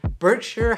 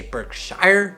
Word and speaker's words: Berkshire: Welcome to today's video where I'll be reviewing Berkshire Hathaway stock. I really hate how this company is named. I always want to say Berkshire, but I'm pretty sure it's pronounced Berkshire.